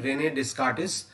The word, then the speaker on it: René Descartes: So this guy, there is a French mathematician, René Descartes or something like that, how they pronounce it.